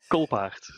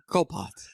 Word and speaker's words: Colpaert: It's Colpaert. Colpaert.